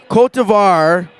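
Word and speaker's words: Côte d'Ivoire: Cote d'Ivoire, is that the correct pronunciation?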